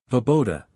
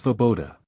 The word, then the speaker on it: Svoboda: Vaboda, how the hell do you pronounce that? Jotaro just sighs and steps forward with Izuku. It's Svoboda. SSS Vo-boda.